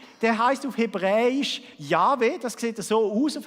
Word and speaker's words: Jahwe: Man spricht das wahrscheinlich Jahwe aus.